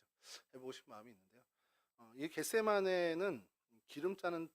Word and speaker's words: 겟세마네: 싶은 마음이 있는데요 어이 겟세마네는 기름 짜는 틀 아까 말씀드린 것죠 게드 세마라 이제 헬라어 발음으로 실제로 게드 세마이 이렇게 되는데 그런 뜻이고